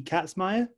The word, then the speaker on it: Katzmaier: You won the Patty Katzmaier. Yeah, Katzmaier, you got it.